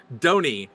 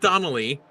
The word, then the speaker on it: Donnie: And folks, I have been saying his name wrong for all of the time I've known him, and this is the first time I've heard him say his name, Donnie, not Donnelly, Donnie.